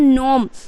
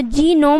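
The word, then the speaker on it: gnome: guys क्या है कि एन से पहले आया जी वो भी साइलेंट हो जाएगा तो यहां पे जी का उच्चारण देखिए क्या है नोम अगर जी उच्चारण करोगे तो जी नोम हो जाएगा ओके तो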